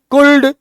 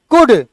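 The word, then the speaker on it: could: हैं शुड एल का उच्चारण है आ का उच्चारण कर दो शुड कुड वुड तो कहेंगे एरर है आप इसको कहते हैं शुड कुड उड एल का उच्चारण नहीं होता है फिर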